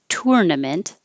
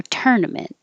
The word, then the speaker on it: tournament: is what i say it's er tur and the vowel is like her so i couldn't put a vowel here because you could do either way tournament or tournament as long as you have stress on the first syllable it's going to sound fine tournament hannah is a